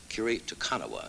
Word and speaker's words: Kiri Te Kanawa: trouble with your name curie takanawa is the way it's was the correct pronunciation you really were really